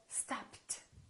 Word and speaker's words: stopped: If the last letter of the verb is a voiceless consonant, the ED becomes a T. So, stopped.